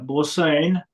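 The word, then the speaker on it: Bosaan: Okay, so pronounce what, Bosan? Yeah, Bosane.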